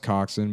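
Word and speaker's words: coxswain: Maybe it's pronounced coxin, but it's co ox w a i n.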